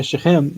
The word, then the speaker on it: Shechem: The Shechem. accent is on, yeah, Shechem. The accent is on the chem.